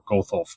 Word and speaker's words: Gothelf: name correct Jeff um I'm not sure if it's got health or goldtholf but both of them sound pretty good could you help me out with that yeah it's got Health yeah oh it's got Health